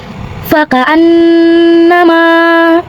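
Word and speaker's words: فَكَأَنَّمَا: Sebab nun bertasydid maka cara bacanya adalah nun didengungkan. Jadi ditahan kurang lebih dengungannya dua harakat seperti fakaanama.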